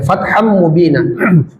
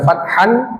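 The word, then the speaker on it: فتحا مبينا: Fatham mubinah. Fatham mubina. Ee tanwin bertemu mim itu idgham bighunah. Dimasukkan lalu didengungkan. Jadi tidak dibaca fathan tapi fatham. Jadi tanwin itu menjadi mimnya. Kemudian ada gunah dilamakan.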